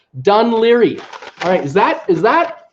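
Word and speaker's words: Dún Laoghaire: can't speak big the language they said it's pronounced dun Laoghaire that's how I heard it she says a pronounced dun Laoghaire alright is that is that dun Laoghaire to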